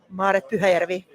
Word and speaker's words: Maaret Pyhäjärvi: Maaret Pyhäjärvi. Maaret Pyhäjärvi.